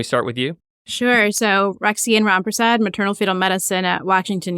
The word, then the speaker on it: Roxane Rampersad: Roxane Rampersad. Am I pronouncing it correctly, Roxane?